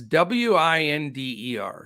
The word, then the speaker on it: Winder: And, I don't know for sure if it's pronounced Winder or Winder. It's Winder.